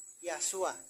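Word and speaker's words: يسوع: kitab suci berbahasa Arab namanya bukan Isa tapi yasua karena orang Arab tidak mengenal vokal e jadi mereka menyebut membacanya yashua Isa itu tidak mati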